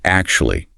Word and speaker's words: actually: The word is actually. 4 syllables. The stress is heavily on the first syllable. But to create the velvet effect, you must elongate that first vowel sound. Elongate the vowel. Right. Don't clip it.